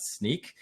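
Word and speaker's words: Snyk: a developer advocate at sneak er not a lot of people know how to pronounce that well so no worries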